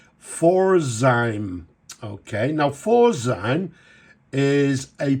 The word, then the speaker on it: Pforzheim: And it was founded in Germany at a place, I'm not sure of the pronunciation, but I think it's Pforzheim.